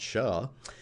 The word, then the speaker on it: SHA: we're going to use something called sha which I like to pronounce sha lifetime 24 hours that's